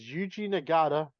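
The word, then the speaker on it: Yuji Nagata: and Birmingham Alabama Alabama the dark match is eugi nagada I figured I'd say that for you so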